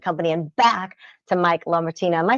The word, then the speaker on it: LaMartina: And back to Mike LaMartina.